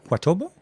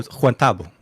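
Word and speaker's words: Juan Tabo: So how would you pronounce that? Juan. Like me, Yeah. and then Tabo. Tabo. Huatobo? Huatobo? No, two separate. It's a name. Oh, Juantobo. Juantobo. Tabo. Oh, Juantabo.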